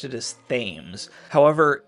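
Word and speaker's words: Thames: a mes so I've always pronounced it as themes however it's spelled the same way as the English river that flows through London which of course is pronounced the temps this makes sense in a way given that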